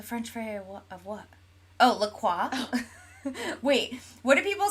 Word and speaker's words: La Croix: Rubik says it's so weird to hear it pronounced the French way. What's the French way of what? Oh, La Croix.